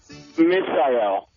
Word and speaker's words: Misael: Misael. The phone is so crappy. I can't understand the way he pronounces it. Rhymes with Israel. Okay. Misael, kind of like Israel, but Misael.